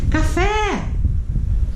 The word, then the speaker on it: café: Café! É o fé.